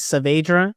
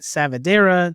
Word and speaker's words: Saavedra: My last name is Saavedra with 2 A's, and I would get Savadera or Scavedera or Scavedra, and it was pretty clear how to pronounce it correctly, but it would happen a lot.